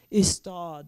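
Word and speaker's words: Ystad: writes about a little tiny provincial town called IST is how it's pronounced it's spelled y s istal and um he decides to base his detective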